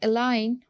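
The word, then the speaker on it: align: And then अलाइन we don't pronounce ji इन इट.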